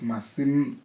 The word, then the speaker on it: Masi: so they'll call me and I'm like, I'm not that, they'll call me Masi and I'm like, nope, it's Masi, so you have